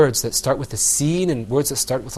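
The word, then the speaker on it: س: And then when you're pronouncing the seen, you're going to pull the corners of your mouth back.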